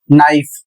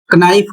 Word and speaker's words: knife: Spelling है के एन आई एफ ई और इसका सही उच्चारण होगा नाइफ। यदि इसका उच्चारण कनाइफ करते हैं क बोलते हैं तो आप बिल्कुल गलत पढ़ रहे हैं।